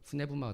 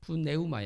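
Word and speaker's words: πνεῦμα: 자 이렇게 돼 있는데 영이라는 것은 네마 요즘 이제 그리스 발음으로 네마 되고 네우마 였겠죠 처음에는 그리고 이제 뭐 영국 으로 하면은 유마 이렇게 되는데 저는 지금 그리스 사람들이 발음하는 것으로 아마 자주 할 것 같습니다 푸네마스터 오늘이 본문에 나오는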